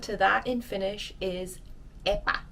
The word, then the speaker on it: epä: So the equivalent to that in Finnish is epä. It's a bit tricky to pronounce, so let's practice together. Epä, epä, epä, epä, epä, like the cat, that short A sound.